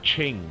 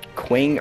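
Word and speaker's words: Qing: like is it pronounced quing or Ching or is it pronounced Joe or zo or z i don't even as it said I left the game yeah it's ching and Jo hey if you put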